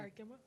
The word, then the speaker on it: Arkema: Arkema.